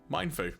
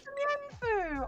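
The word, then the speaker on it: Mienfoo: Mind Fu. Oh, it's Mienfu. Oh, so cute. That's how I've been pronouncing it.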